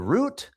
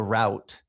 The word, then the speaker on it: route: So, some people say the route, some people say the route. Um and I don't think that's exactly a regional thing. I think that it just It's kind of a personal preference. Both pronunciations are okay.